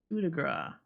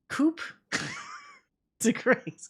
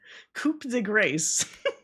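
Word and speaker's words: coup de grâce: like it says cigra it's it's coupe the gra why did they just spell it like that you know what I mean like you imagine somebody that doesn't know how the you say it I'm saying it right right Cuda gr like coup the grace I guarantee some [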